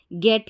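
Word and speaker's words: get: पढ़ेंगे जी को लेकिन जब गेट की स्पेलिंग आती है तो ध्यान रखना जी को ग पढ़ा जाता है जब गेट आता है यानी जी के बाद में यहां पर भी ई है लेकिन गेट की स्पेलिंग को आप अलग से याद रखें इसको गेट यानी जी को ग पढ़ते हैं यहां पर जी को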